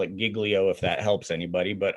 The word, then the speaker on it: Giglio: with reference to, and I pronounce it Giglio just because I knew somebody with that last name and that's how they pronounced it. Okay. Okay. I don't care. I can call it Giglio if that helps anybody.